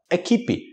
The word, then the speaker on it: equipe: a gente fala equipe No final EP equipe cuidado que não é equipe alguém não é equipe